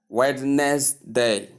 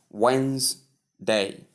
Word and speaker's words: Wednesday: So we have often mispronounced as witness day notes that the silent D. I mean the D is silent. Of course, pronounce it as Wednesday.